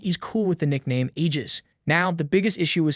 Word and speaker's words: Aegis: Aegis is supposedly the name of Zeus's shield, and the way you say it is Aegis, with a strong emphasis on the G.